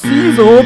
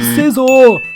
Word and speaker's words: Scizor: we've went through this it's not pronounced Cel but Scizor yeah yeah yeah you